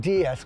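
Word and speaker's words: déesse: play on words because in French DS sounds like the word DS which is female version of God so they're talking about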